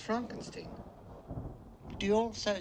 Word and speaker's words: Frankenstein: Castle Frankenstein you're putting me on no it's pronounced Frankenstein do you also say frck no Frederick well